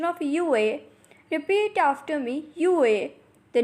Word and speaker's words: wu: So the first initial is WU, has a pronunciation of U. Repeat after me, U and not Wu.